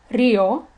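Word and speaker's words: río: However, there are some words, such as rio, which means river, dia, which means day, and alegría, which means happiness, that, as you can hear in their pronunciations, they break this rule. Therefore, a written accent is required over the I.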